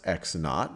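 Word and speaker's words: x₀: well, this is pronounced x naught, or you just x sub 0 is just x naught.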